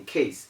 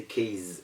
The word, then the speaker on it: case: satisfies all the conditions yet we still do not give that z sound we don't say k is or k zen it is case and casen you have a case